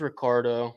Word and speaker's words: Ricciardo: It's Ricardo. Oh. The second I is silent.